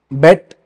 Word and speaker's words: beat: Okay, the third where there are different beat, bet, beaten. So the when beat is pronounced in past tense, when beat is written in past tense, it's pronounced bet.